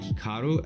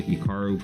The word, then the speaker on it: Hikaru: pronounce Hikaru nak now even myself when I pronounce my name it's definitely more Americanized versus Japanese certainly if I was pronouncing it correctly it would be more like Hikaru as opposed to Hikaru but I've spent so much of my life here in America that that's just how I pronounce and everyone does the